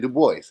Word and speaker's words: Du Bois: said his name was DuBois and that Dubois so going somewhere with that nonsense that's exactly why over here and here but he didn't pronounce it like that he pronounced it Du Bois so that's what I'm